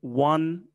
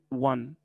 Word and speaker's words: won: won. won. يعني التصريف الثاني من win بيتنطق بالضبط زي رقم واحد. one.